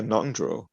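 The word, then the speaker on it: ngöndro: Is it Nundro? Is that how you say the preliminary practices? Yeah, Nundro. Yeah. Nundro. Okay, because it's spelled with the NG.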